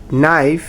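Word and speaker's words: knife: Silent K in English, নাইফ, knock, no.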